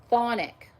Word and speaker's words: chthonic: pronounce this word, so I wrote it down, chthonic, because it's spelled C-H-T-H-O-N-I-C, chthonic spirit.